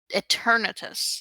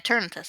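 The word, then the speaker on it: Eternatus: Eternitus. Etern. Yeah, Eternitus. I said it right the first time.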